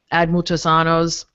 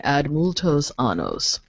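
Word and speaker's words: ad multos annos: birth diocese you know ad muchosanos yes multo's sorry I didn't pronounce that correctly add multo's anos the Latin for many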